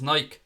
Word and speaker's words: Nike: club-record deal with rivals Nike or Nike depending which way you pronounce it and Liverpool spokesperson told